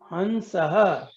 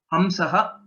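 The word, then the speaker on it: हंसः: Hansaha. Swan. Hamsaha, the better way of pronouncing it.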